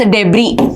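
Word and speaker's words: debris: हम कहते हैं space daybreak junk it's also called as space डेबी okay S को साइलेंट होता है इसलिए डेब्रेक का कचरा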